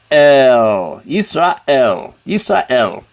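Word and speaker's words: ישראל: bolt is lament and the vowels are a e sound schwa it's totally silent yes Raw L Israel and remember you start at the top go down e silent keep that s ah Israel hear that silence in the in the aleph Israel and this means Israel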